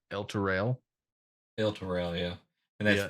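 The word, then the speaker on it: Elturel: They don't call it El Turo. They call it El Turel.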